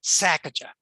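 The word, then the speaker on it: Sesachacha: And the person running the sanctuary there said, well, just think of it as a sneeze, Sacajah.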